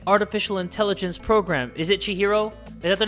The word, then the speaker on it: Chihiro: sure i'm saying it right chihiro right yeah chihiro aka alter ego he can talk but what